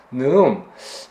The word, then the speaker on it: נְאֻם: 좀 살펴볼 텐데 오늘 제목이 네음 페샤 있어요 네음 음은 이제 사실 그 제 발음이 맞는 발음입니다 네음 하면 조금 강한 발음이